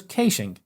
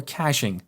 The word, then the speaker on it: caching: Another approach is to use caching, as we call it here in Australia, or caching, as is pronounced in the United States.